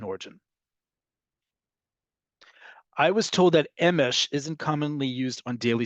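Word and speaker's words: אמש: Emesh, one word, two syllables.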